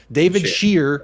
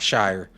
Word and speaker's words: Shire: Shire as in shear a sheep. No, Shear. David Shear, not Shire.